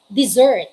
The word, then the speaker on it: dessert: we say this one this one with double s pronounced as dessert say it dessert desert